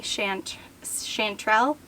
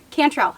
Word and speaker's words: Cantrell: think the winner is the granny chanterelle cantrell i keep saying it wrong i think it's the granny cantrell um they're almost like